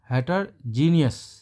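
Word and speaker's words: heterogeneous: अब देखिए दोस्तों, इसके प्रोनाउंसिएशन पर ध्यान दीजिए। इसमें ओ का प्रोनाउंसिएशन नहीं होगा, हेटरजीनियस।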